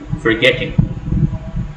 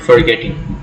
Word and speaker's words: forgetting: For example, let's take this word, forgetting. You have this acute accent over E, suggesting that this is the letter or this is the vowel that gets the accent, gets a stress.